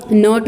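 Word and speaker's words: knot: इसको रीड करेंगे, क्या रीडिंग होगी इसकी? नॉट. नॉट नहीं होगी, नॉट, क्योंकि यहाँ पे के लेटर है. ठीक है, बिफोर एंड यू हैव के लेटर एंड प्रोनाउंसिएशन भी इसकी क्या होगी? नॉट होगी. मीन्स इसमें के साइलेंट लेटर हो रहा है तो इसलिए हम क्या करेंगे? इस बॉक्स को कलर कर देंगे.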